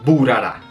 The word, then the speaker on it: Bharara: en el Instagram oficial Ellos dicen por favor se pronuncia buara Entonces esto es burar